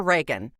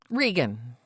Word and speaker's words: Regan: Regan or Reagan? Regan.